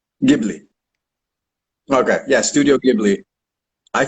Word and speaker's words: Ghibli: How do you pronounce it? Ghibli. Ghibli.